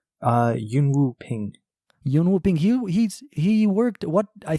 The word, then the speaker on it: Yuen Woo-ping: I want to make sure I'm pronouncing it correctly. Yuen Woo-ping.